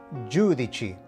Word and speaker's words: giudici: Tip number 2. When you see the letters C and I together, it makes the sound chi. So in our example, we can pronounce this word as giudici, which means judges.